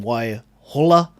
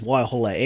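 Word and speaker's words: Waihola: uh you know you look at the name why holla you know kurel you know those place names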